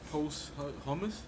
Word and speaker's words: posthumous: He just released his post hummus. That's how you pronounce it. I can't even pronounce it right now. I'm kind of like brain dead. Posthumous.